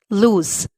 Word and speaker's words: lose: pronunciation of these two words people often even pronounce them wrong the first is loose sound loose and the second is lose sound lose what's the meaning of loose big in size